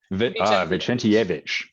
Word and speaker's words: Vicentijevic: So Vicentijevic, did I say it right? You are like 90% of the way there. Yeah, that's an A. Yeah, you say it for us. Vicentijevic.